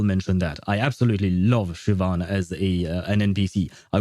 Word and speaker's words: Siobhan: Irish names and yeah the Irish names are not written the way they are pronounced. They are actually very different at least to people like me or people like um the girlfriend of that dude. Uh they they they look very different. And the some of the examples we have, for instance, we have uh Siobhan, I believe is how you pronounce her name.